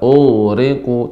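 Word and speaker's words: أُغْرِقُوا: Ustaz, mimma khati'atihim ughriqu fa udkhilu nara. Pada kata Gimana, Ustaz? Ya, ughriqu tidak boleh tidak boleh tapi ughriqu. Ya, ini termasuk ghain, termasuk huruf sifat yang rakhawah, suaranya mengalir.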